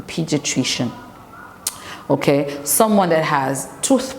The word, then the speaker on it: pediatrician: what they call a pediatrician Pediatric is attrition it's a four syllabus word a pediatrician okay someone that has